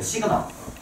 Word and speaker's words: 시그마: 하세요 어떻게 표현을 하냐면 보세요 여러분들 이렇게 편해요 시그마라고 읽어요 시그마 시그마 일단 선생님 써 놓고 얘기해줄게 이렇게 기울어